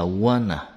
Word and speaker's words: wanna: Want to này người ta đọc là wanna. Kiểu như wanna.